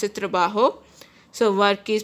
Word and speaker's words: trabajo: guys J's pronounces Houghton's penny so it is pronounced a trabajo so what case pronounces the bajo in Spanish